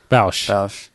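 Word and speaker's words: Bossk: Bausch. That's how we're saying it. Bausch. It's our That's pronunciation.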